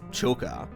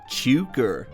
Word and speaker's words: Chooka: I'd introduce myself as Chooka, and they'd all say Chooka or like Chooka or something like, I don't